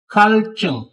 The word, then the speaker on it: 갈증: 갈증, खलचुम प्यास.